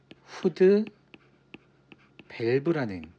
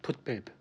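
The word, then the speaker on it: foot valve: 영어로 쓰면 풋 밸브입니다 풋밸브 근데 여기서 조금 이상한 걸 느끼셔야 할 텐데 한글로 적혀 있을 때는 후드 밸브인 영어로 말 발음하게 되면 풋 밸브입니다 풋밸브 왜 갑자기 후드랑 풋은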